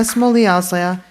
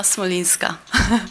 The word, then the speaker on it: Smolinska: Our next speaker is Smolya, followed by Dan K. I'm sorry. I know I butchered your last name. It's Smolinska.